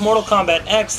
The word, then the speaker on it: Mortal Kombat X: And yes, it is pronounced Mortal Kombat X. This was confirmed to me by multiple developers at Netherrealm working on the title.